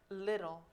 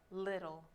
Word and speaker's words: little: remember our pronunciation for little little little it sounds a little bit like the letter R or little little little